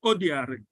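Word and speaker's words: Odiari: H-U Odiare. Odiare is spelled O-D-I-A-R-I.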